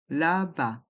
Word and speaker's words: là-bas: Un peu plus loin, là-bas. Le S de là-bas est muet.